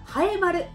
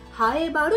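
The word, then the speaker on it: 南風原: 例えばハエバル、南の風の腹と書いてハエバルと読みます。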